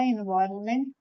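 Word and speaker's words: environment: एम ई एन टी हमने जैसे government में भी एन का यूज किया था लेकिन प्रोनाउंस नहीं करते हैं और एनवायरमेंट में भी हम एन को प्रोनाउंस नहीं करते हैं लेकिन लिखते हैं।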